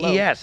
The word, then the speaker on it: Lopes: Is it Lopes or Loops? How do you say your name? Lopes. Lopes. Oh, Lopez. Yeah. No, but it's I pronounce it Lopes, isn't it? It's Lopes. How do you spell Lopes. your? Oh, it is Lopes. Yeah. Yeah, it's not Lopes.